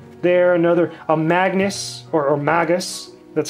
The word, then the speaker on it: Magus: lately notice Samurai there another a Magnus or Magus that's how you pronounce it Magus a squire from Final Fantasy Tactics again another